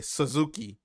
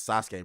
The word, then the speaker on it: Sasuke: else say narut just like some people say Suzuki and I'm like that nigga's name is Sasuke bro why would you